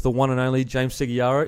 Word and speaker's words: Segeyaro: I'm here with the one and only James Segeyaro. Is that how you say it properly? Segeyaro? Yes. Or is that an Aussie slang? Nah. That's how you say it. Segeyaro.